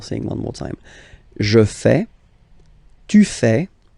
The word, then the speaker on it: fais: Je fais. Remember, final S not pronounced. Je fais.